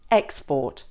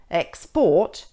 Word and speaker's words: export: If the word is being used as a noun, the stress is on the first syllable, such as present, export, suspect.